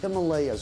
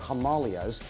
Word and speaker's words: Himalayas: The majestic snow-capped peaks of the Himalayas, or Himalayas, depending on your the way you like to pronounce it, remote, and you would think far